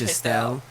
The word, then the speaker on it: Shestel: So the website she's talking about is Shestel, right? Is that how you say it, right? Yeah, it's Shestel.